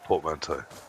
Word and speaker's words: portmanteau: Yes, I was, but unfortunately, like many words that I've seen and never has actually had to say, I can't pronounce it. It's portmanteau.